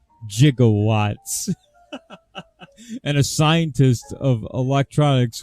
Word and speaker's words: gigawatts: work gigawatts he's actually my electronics engineering teacher made an example out of that movie and said he's saying it wrong it's gigawatts it's not gigawatts and a scientist of